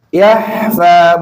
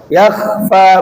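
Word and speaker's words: يخفى: Perhatikan baik-baik ketika apa? Ketika membaca kha disukunkan. Bedakan dengan apa? Dengan ha. Innahu ya'lamul jahra wa ma yakhfa. Jangan sampai bacanya apa? Innahu ya'lamul jahra wa ma yakhfa. Kalau baca seperti ini namanya apa? Ha, bukan kha. Yahfa, bukan yakhfa. Yang benar yang mana? Yakhfa atau yahfa.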